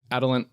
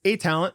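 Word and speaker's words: Atalent: Yeah, it's A-Talent, but you know, hey, Adalent, A-Talent, you know, it was a play on words.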